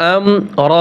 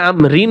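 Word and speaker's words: أمر: কুল্লি হামজা মিম সবর আম রা দুই জের রিন আমরিন ওয়াকফ করলে আমরিন হবে না আমর রা উচ্চারণ হবে তানাজ্জালুল মালাইকাতু ওয়ার-রূহু ফিহা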